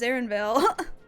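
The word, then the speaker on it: Erenville: on screen right now aaronville or Aaron Vale they pronounce it Aaron Vil okay what's going on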